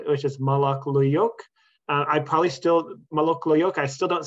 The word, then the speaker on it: Molok Luyuk: There's the pronunciation of this Patwin name, which is Molok Luyuk.